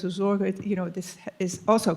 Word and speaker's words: Sorge: And the word care is very significant in being in time, but it refers to, in German it's Sorge, S-O-R-G-E, and it refers to, oh, don't bother yourself with that.